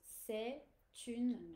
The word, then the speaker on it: c'est une: And then the liaison, yes, with the T is to be pronounced with the une that follows. C'est une réglette.